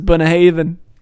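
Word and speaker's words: Bunnahabhain: hey even ireland wow like the way you spell it is and the way you pronounce this is bona haven well uh like you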